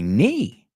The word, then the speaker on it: knee: I hurt my knee. Me hice daño a la rodilla. Otra letra muda, la K. I hurt my knee.